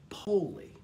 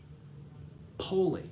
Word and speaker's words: pole: swahili the term is poli p-o-l-e poli it's pronounced poli in swahili not pole we spell it poll